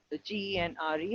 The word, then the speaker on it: genre: Genre, G-E-N-R-A, the spelling is G-E-N-R-E and the pronunciation is genre.